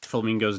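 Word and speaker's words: Flamigo: know how to say Flamingo's name. Is it literally just Flamingo? And people are pointing out it's like amigo. So it's like flamingo is the way it's supposed to be pronounced, right? Like flamingo.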